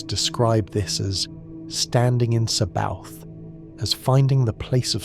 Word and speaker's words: Sabaoth: O is spoken with a rounder, more focused sound, bringing the lips together, and Sabaoth is articulated clearly with emphasis on the bar syllable, creating a rhythmic pulse.